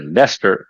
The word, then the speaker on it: Leicester: I mean, you call it Leicester. It's not even written as Leicester. It's written something else.